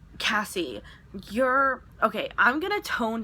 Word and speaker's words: Cassie: My name is Cassie, and a lot of people call me Kathy because they mispronounce my name.